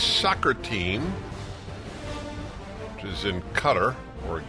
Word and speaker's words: Qatar: It's a Q, I think, in Arabic, which is not a K. That's why it's spelled with a Q, the country. Q is Q, and K is K.